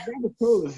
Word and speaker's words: Rabbitohs: teams, and you know, thinking, how do you pronounce that? Because like Rabbitoh, is it Rabbitohs? Like I wasn't. It's Rabbitohs, yeah.